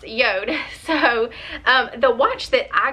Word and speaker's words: Jord: So if you've never heard of Yode before, they are actually spelled J-O-R-D, but they're pronounced Yode.